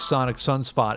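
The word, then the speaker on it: Psonic Psunspot: the dukes of stratosphere called sonic sunspot but sonic is spelled p-s-o-n-i-c and sunspot is also a p-s-u-n you know so i had read a review of sonic sunspot and rolling stone back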